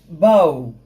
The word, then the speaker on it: bow: Now if you look at the transcription, you realize that bow does not rhyme with thought. It does not rhyme with do. It does not rhyme with low, but rhymes with how.